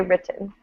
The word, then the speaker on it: written: it that way because americans really tend to pronounce t's as d's especially when we have a double t but here we say written oh no just i